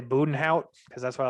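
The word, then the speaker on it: Bezuidenhout: But after Jason Day, you got, I want to say Budenhout, because that's what I like to call him, but it's Zayden Hute or whatever. No, you don't pronounce the Z. It's Budenhout.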